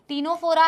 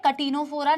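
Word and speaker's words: Ctenophora: टीनोफोरा, टीनोफोरा है, कटिनोफोरा नहीं है।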